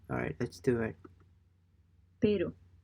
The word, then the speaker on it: pero: Be sure to make your R sound more like a D. R sound more like a D. Alright, let's do it. pero, pero, pero, I know it's